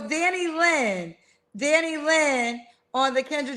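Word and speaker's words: Danilyn: Danny Lynn.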